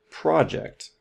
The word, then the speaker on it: project: What about project? Project. Well, the stress is at the beginning here.